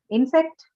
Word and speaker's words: insect: Insect, First syllable. first syllable. Noun, so first syllable.